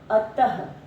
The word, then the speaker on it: अतः: इसके बाद बच्चों अह, ये जो दो बिंदी है अतः, अ त के साथ दो बिंदी, जब हम इसका उच्चारण करते हैं तो ह की ध्वनि सुनाई देती है, अतः।